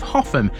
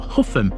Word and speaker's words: Hougham: Rounding off the week in South Givven, we have the village and parish of Hoffam. And yes, that is how you pronounce this. It's not How and it's not Huff or Horn.